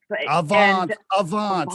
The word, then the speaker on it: Avaans: was it always okay was it always called advance am i saying it right by the way it's avons let me let me say avons i said